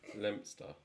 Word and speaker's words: Leominster: We have a place called Leominster, and you call it Lempster.